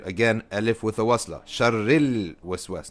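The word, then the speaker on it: شر الوسواس: Sharril waswas, not shar al waswas. You don't say min shar al waswas, sharril waswas.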